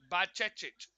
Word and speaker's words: Bajcetic: Bajcetic. Bajcetic is how you say his name.